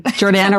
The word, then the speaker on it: Jordana: it's a good name Jordana rhymes with banana that's like an easy